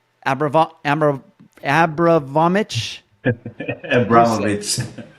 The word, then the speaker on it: Abramovich: Abramovich. Abramovich. Man, I I butchered that one.